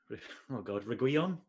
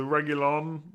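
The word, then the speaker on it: Reguilón: So Reguilon, and the I is silent.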